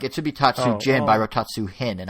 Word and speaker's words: Tatsujin: How do you say it? Tatsujin. Thank you. For some reason, I put H in my notes instead of J, so I was really confused. Like it should be Tatsujin, but I wrote Tatsuhin,